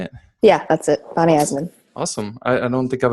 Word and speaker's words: Bonnie Eisenman: Is it Bonnie Eisenman? Is that how you say it? Yeah, that's it. Bonnie Eisenman.